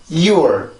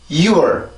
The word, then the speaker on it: your: your 다시 한번 your 자, 이렇게 해서 이 소리가 만들어지게 되는데, 우리나라 말은 그냥 U라고 한 번에 발음을 할 수가 있어요.